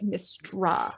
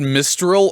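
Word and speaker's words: Mystra: But she immediately comes back as Mistra. Oh, thank you. That's cheating. You said Mistral earlier. I'm like, have I been mispronouncing that name this whole time?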